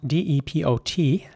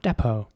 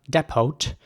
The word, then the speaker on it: depot: like a ä sound depot and the t at the end is silent so it's not depot and in american english